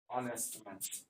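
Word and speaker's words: honest: এখানে এইচ এর উচ্চারণ হয় নাই।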